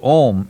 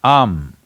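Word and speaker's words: Aum: Because you're Omarion, there is also Ammeri, it is not to be said as Om, it is Am. It is just three sounds.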